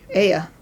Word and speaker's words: Ea: Ea. Alright, we'll keep that. We'll just pronounce it Japanese style. The romanization of Japanese means that the letter E is always E, and the letter A is always A.